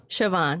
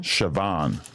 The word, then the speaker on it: Siobhan: Siobhan. Siobhan. Yep. It's very misleading because of the way it's spelled. Yeah, you could say that. It's Irish.